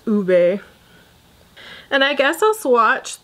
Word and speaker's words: ube: says u P but she said that it's pronounced ube and I guess I'll swatch the older ones